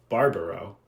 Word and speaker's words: Barbaro: Grande uh Zoe Hela and Monica Barbaro uh which I learned is the correct pronunciation Ben um these performances